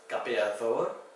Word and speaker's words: capeador: So it's not a hard D like capeador, it's capeador. It's a softer D.